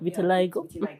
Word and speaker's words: vitiligo: with Vital I don't even know how to pronounce the word vitiligo. Vitiliggo.